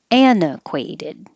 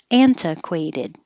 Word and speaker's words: antiquated: syllables uninitiated antiquated or you can get rid of the t because the t is after the n and it's in the unstressed syllable so that way you can hold your tongue in the end position and just release it anna instead of anta anequated either with the t antiquated or without the t an equated same but in the